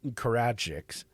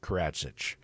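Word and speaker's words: Karadžić: here so the leader of serbia um radovan karachiks karachik perfect perfect that's exactly how it's pronounced crazy there we go it's karachitch uh yeah karadzic uh he crabs itch yeah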